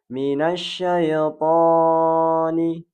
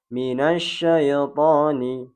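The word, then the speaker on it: مِنَ الشَّيْطَانِ: Ingat, huruf to berharokat fathah kemudian diikuti dengan alif, maka dia dibaca 2 harokat. Tidak boleh lebih dan tidak boleh kurang. Contohnya yang salah dibaca adalah minasyaitani, minasyaitani, lebih dari 2 harokat. Yang benar adalah minasyaitani, minasyaitani. Ingat 2 harokat atau 2 ketukan.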